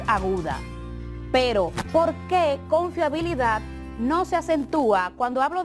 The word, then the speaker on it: confiabilidad: la última sílaba decíamos que si la palabra tiene la fuerza o la sílaba tónica en la última como en el caso de confiabilidad es aguda pero porque confiabilidad no se acentúa cuando